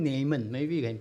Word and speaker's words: Naaman: I call him Naaman. Maybe you can pronounce it as Naaman or Naaman. I call him Naaman.